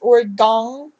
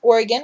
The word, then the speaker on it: Oregon: So everybody says Oregon or Oregon. I can't even pronounce how they say it. It's so messed up. It's Oregon once again.